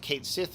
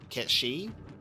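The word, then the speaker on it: Cait Sith: And then everyone started going, oh my god, is he going to be called Ketshi? Like the Gaelic pronunciation of that actual name, finally?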